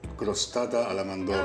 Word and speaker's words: crostata alla mandorla: You need to be able to roll your R's to say this. It's called crostata alla mandorla.